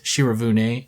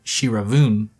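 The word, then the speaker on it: Shiravune: shira vien announced that they have rebranded themselves as shira vune pronounced shira vune and not shira voon they made sure to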